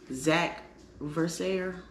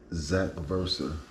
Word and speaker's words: ZacVerser: And the comment is from Zach Verser 910. I'll spell it out. ZACVERSER 910. Zach Versa. Zach Verser. Or Verser. Yeah. Yeah. I put a little extra on. Either or.